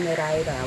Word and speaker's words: Nereida: of this lifetime, is they pronounce it Nereida, which means the 50 daughters of the sea god Nereus, the most famous Nereida, is Achilles' mother, Thetis.